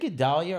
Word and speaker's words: Gedale: Is it Gedalia or Gedal? Gedale is fine. Okay. No, because it's spelled so different than Gedalia. Yes, I'm just from Colombia. It's from Colombia. Gedale, but you have to have that kind of an accent. Gedale is good.